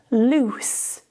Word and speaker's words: loose: The vowel sounds are the same here. However, the endings change. Loose, no vibration.